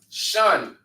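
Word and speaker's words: שן: right it's say uh it's pronounced Shan in the Hebrew right which is uh which means tooth Shan means tooth sham means name okay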